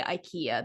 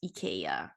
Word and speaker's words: IKEA: and by the way they don't say ikea the correct way to say it is ikea wow yeah that changes